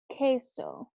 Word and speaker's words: queso: who cool you the qu sound in Spanish makes a K sound not a qua sound in English it makes like a kW sound up quo but in Spanish it just makes a cuff sound so the word for cheese in Spanish is gay so queso okay so the letter is